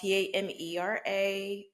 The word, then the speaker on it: Tamera: So it's spelled Tamera. So just like sister, Tamara Mulry, it's spelled and pronounced the same way.